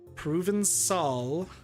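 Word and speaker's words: Provençal: Proven Sol, not a call, it's Sol.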